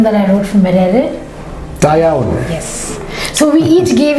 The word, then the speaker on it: Da iawn: And similarly, when I was in Wales, there's an exclamation that you use, if you would pronounce it for me, the poem that I wrote for Merere. Da iawn.